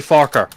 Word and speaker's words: Farquhar: Yeah, the original pronunciation is actually Farquhar.